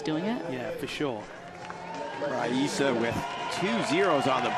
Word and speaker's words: Rayssa: As it sees on the screen, we say Rayssa, but it's actually Rayssa, correctly pronounced in Brazil.